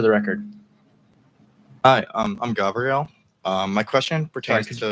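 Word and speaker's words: Gavril: record hi um I'm Gabrielle um my question pertains to could you spell that g a v r i l it's like Gabriel with the V okay thank you um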